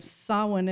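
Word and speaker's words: Samhain: comes of course from the celtic holiday of sowen as they pronounce it which was believed to be a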